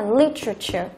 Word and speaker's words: literature: Thế còn cái này âm thứ nhất là literature, literature, âm thứ nhất.